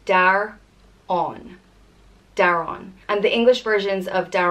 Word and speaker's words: Daireann: And it's pronounced Daireann.